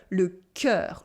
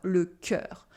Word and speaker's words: le cœur: You have le E dans l'eau with the sound E. le cœur, le cœur.